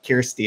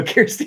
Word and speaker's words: Kjersti: he can't pronounce and he always calls her Kirstie as well and she's okay with that so Kirstie is acceptable share CEA's crack and